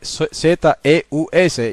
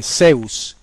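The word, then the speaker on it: Ζεύς: Y que en español se escribe Z-E-U-S y la gente lo lee Zeus, pero en griego se lee Zeus.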